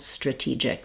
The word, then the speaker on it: strategic: But for a non-native speaker, I would definitely recommend trying to just do T and tra, stra, stra-gy, and stra-TEE-gic rather than using a CH sound there.